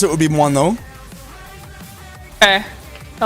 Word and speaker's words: moineau: So the, like, kind of correct way to pronounce it would be moineau. Okay. I like that. The like, It means sparrow. The like, I'm English pronunciation, you could just say moineau.